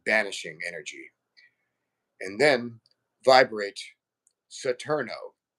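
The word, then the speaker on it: Saturno: And then vibrate satno s a tur n o that's the Spanish version of Saturn.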